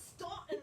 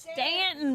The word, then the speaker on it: Staunton: It's not Staunton, Virginia. It's Stanton, Virginia.